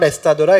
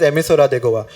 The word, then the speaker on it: Emissora de Goa: It is not Estadora, it is Emissora de Goa.